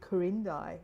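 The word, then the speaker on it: Quirindi: Tomorrow we we um we're heading up to a place called Kurindi. Um spelled with a Q.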